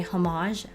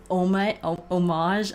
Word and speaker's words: homage: So the pope goes and visits the Spanish steps and um they pay homage homage. Okay, you guys, we pronounce it both ways, okay, to Mother Mary.